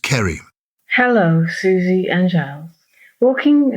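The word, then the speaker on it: Ceri: from Cherry it's a c-e-r-i okay I think it'll be pronounced Kerry hello Susie and Giles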